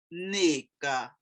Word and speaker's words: Nneka: Nneka. Now, when I hear Nigerians pronounce it, it's the most beautiful thing. They emphasize the first part of the word, so it's Nneka.